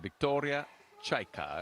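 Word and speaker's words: Viktoriya Chaika: so that's good uh i talked to the coach earlier about getting the right pronunciation he said victoria chaika i said all right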